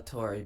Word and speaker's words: Torre: It's pronounced Torre, but we get plenty of versions.